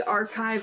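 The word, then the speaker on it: arXiv: But yeah, we have this preprint free archive of papers called Archive. Archive. Archive, yeah, it's spelled A-R-X-I-V. So the X is like the Greek letter chi, archive.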